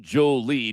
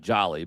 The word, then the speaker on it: Jolie: And you do say his name Jolie despite it looking a lot like Jolly, but it is Jolie.